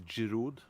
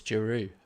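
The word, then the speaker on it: Giroud: I don't think they pronounce the D though. If you want to get funny about it. I know you correct me on my German. So I think it's Juru.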